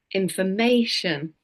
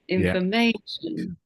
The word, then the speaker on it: information: word like information information in English we always stress one syllable so one part of the word more than the other it's a bit higher in Pitch it's a bit louder and a bit longer mhm for example we say